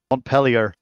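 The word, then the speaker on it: Montpelier: after French places like Mont pel but then they pronounce it weird pellier yeah anyone from Vermont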